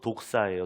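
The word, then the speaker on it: δόξα: 영광이라고 하는 말이 헬라어로 독사예요. 독사. 뱀이 아니라 독사. 발음이 독사입니다.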